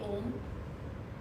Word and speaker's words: Om: A lot of people do it differently, but the way we concentrate and do the Om is that the O should be short and the Ma should be long.